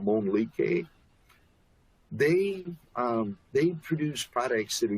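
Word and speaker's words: Mölnlycke: Jim pronounces it Monlique.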